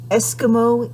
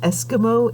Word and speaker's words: Esquimaux: And uh we're now on page 214 and we're reading essay number 87, Eskimo Indians.